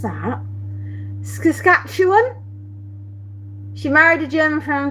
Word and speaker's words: Saskatchewan: Have I pronounced it Saskatchewan?